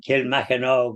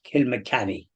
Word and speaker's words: Kilmacanogue: and uh you mentioned kill maog well that's the the way it's spelled but it's actually pronounced Kil mny okay because um I'm